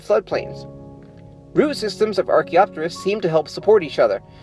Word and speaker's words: Archaeopteris: No, no, not the bird Archaeopteryx. This is Archaeopteris. See, it's spelled differently. It's not confusing at all.